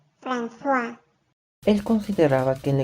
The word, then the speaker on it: François: No se pronuncia Francois, coño. Se dice François.